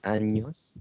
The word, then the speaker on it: años: Años. Yeah, it is pronounced as NY. NY.